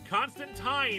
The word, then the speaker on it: Constantine: Constantine is actually the proper way to pronounce it, and he says so in the comics. Constantine rhymes with wine, and all the British creators are like, it's pronounced Constantine.